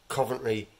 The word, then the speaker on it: Coventry: We pronounce it Coventry City. Dropping the T.